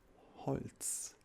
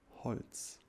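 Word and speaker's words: Holz: obviously made out of wood and wood is Holtz in German repeat after me Holtz very good very good and you're probably wondering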